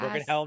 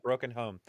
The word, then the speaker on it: Broken Helm: Broken Helm, not Broken Home. Broken Helm. You said it right. No, you said it right. It's just that like I need people hear it HELM is every time I say it to somebody, they're like Broken Home.